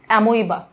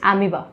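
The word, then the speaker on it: amoeba: एमीबा, don't pronounce it एज एमोइबा, इट इज एमीबा, ठीक है।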